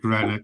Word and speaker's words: Greenock: this, Reece, in fairness, Reece coached me on it before you went on to make sure I can say Greenock in fairness.